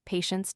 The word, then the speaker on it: patience: The final syllable is sounded, patience 10:29 is trisyllabic, devotion 10:40 is 4 syllables, and entertainment 10:37 is accented on the 2nd and 4th syllables.